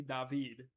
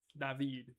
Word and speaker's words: David: They added David, which is technically David. David. My foster dad's from Honduras, so that would be the pronunciation.